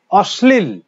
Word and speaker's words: অশ্লীল: অশ্লীল, সটা দুবার হচ্ছে, অশ্লীল।